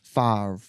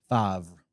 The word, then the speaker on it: Favre: Favre. Favre. I'm assuming it's French. Sounds Like French. chèvre.